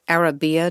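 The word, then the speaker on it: Arabiyya: Orthodox about them we your cookbook is called Arabia did I pronounce that correctly mhm which means Arab woman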